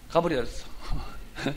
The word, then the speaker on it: 가브리엘: 발음을 쪽발해봐. 가브렀다는 말이 아니고 가브리엘.